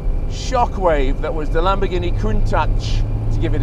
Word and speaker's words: Countach: anniversary of the shockwave that was the lamborghini couldn't touch to give it its correct pronunciation um that was launched in 1971 at